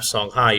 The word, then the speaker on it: Songhai: here on the map Sanai even though it's spelled a little differently is the eastern part